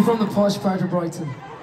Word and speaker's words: Brighton: Brighton. Yeah. It's Brighton. Can you right Can you say it without pronouncing the T so prominently?